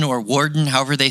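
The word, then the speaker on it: Worden: i went to fort woden or warden however they say it looks like wood when i read it but i think they pronounce it warden and officer and a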